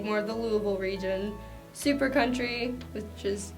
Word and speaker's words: Louisville: People from Louisville, like me, will say Louisville as opposed to Louisville, and often have big debates about proper pronunciation, especially with outsiders who don't understand what they're saying when they say Louisville.